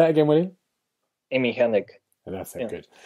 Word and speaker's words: Hennig: have I said the name wrong? Hennig? I don't Amy know. Hennig. Yeah. Say that again, Willie? Amy Hennig.